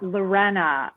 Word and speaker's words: Lorena: the inspiration yeah um also my name is pronounced lorena um for a lot of people that um